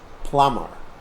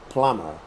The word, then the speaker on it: plumber: newspaper newspaper leaves lives plumber plumber and in plumber keep in mind that the B is silent you you write B but you don't say it plumber and then tap